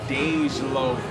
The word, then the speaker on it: Dej Loaf: Dej Loaf, am I saying it right, girl? Dej Loaf.